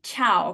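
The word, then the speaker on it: ciao: taught you D Tong yet so we say chiao correctly and not ch for a very good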